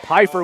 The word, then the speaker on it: Pfeiffer: Is it Pfeiffer? F is silent. All right, so Pfeiffer with the handoff to Young.